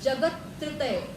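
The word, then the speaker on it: जगत्त्रितय: शब्द आधा है यदि आधा उच्चारण नहीं करके पूरा कर दोगे तो पूरी की पूरी लय बिगड़ जाती है जैसे मान लो स्तत्रय जगत त्रितय बोल दोगे जगत तृतय तो गड़बड़ हो जाएगा जगत तृतय त आधा लेना है जगत त्रय बोलोगे तो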